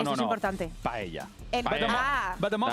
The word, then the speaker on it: paella: Paella. El- Ah. But the most That I know important one is the paella.